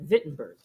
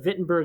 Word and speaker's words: Wittenberg: the castle church at wittenberg and of course wittenberg is spelled with a w but it's in germany so it's pronounced with the v but anyway the 95